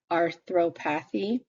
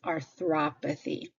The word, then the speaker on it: arthropathy: Notice how the O here is where the hard sound comes. It's not arthropathy, it's arthropathy.